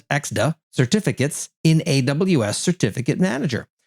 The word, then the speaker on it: ECDSA: And how to evaluate and use ECDSA, or I'll pronounce it as EXDA, certificates in AWS Certificate Manager.